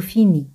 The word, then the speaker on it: finis: Ese siempre al final no se pronuncia. Je finis.